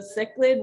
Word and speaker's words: cichlid: So it's a cichlid with a sick lid on his head.